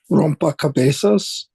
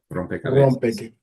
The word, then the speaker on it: rompecabezas: It's not rompa, it's rompe. I have been mispronouncing that for a long time. Okay. Rompecabezas.